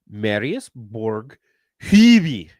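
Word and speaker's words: Marius Borg Høiby: It's Marius Borg heavy. That's how you pronounce the It's like you never been to It's pathetic.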